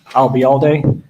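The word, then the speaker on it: Ayalde: okay what was that you uh remember the phrase I'll be here all day and drop it here I'll be all day you got it and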